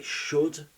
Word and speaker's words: should: Et bien sûr le L qu'on veut prononcer alors que non, pas du tout. Donc, pour le dire correctement, I could, I should, I would. I could, I should, I would. Il n'y a pas de L du tout.